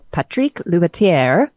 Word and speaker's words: Patrick Loubatiere: again is French author and little house empresario Patrick ler I said that correctly did I not is